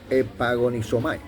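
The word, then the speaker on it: ἐπαγωνίζομαι: Entonces dice aquí que la palabra contendáis o de contender de pelear en el hebreo en el griego se pronuncia epagonisomay que significa contender contra otros.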